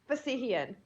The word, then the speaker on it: Fassihian: Would you please pronounce your last name? Fassihian. Fassihian.